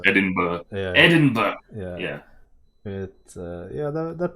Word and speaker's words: Edinburgh: with the Scottish accent. Edinburgh. It's pronounced Edinburgh.